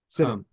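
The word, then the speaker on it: Sinnott: I know they drafted Ben, is it Senat? Is that how you pronounce it? Senate. Senate, okay.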